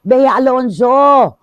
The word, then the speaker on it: Bea Alonzo: eh ' ba sabi sabi ng mga bers beya alonso ah Ang arte mo girl Super OA ka